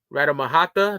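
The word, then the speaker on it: Ratamahatta: Radamahata, that's how you say it.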